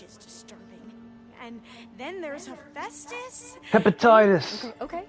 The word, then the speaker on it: Hephaestus: Alright, we're gonna take the war to destroy hepatitis. Wait, no, Hephaestus, I said it wrong.